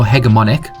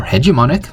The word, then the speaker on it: hegemonic: The interviewer has no hegemonic, or hegemonic, if you want to use the American pronunciation, role over the interviewee, i.e., the usual asymmetric power relation is virtually dissolved.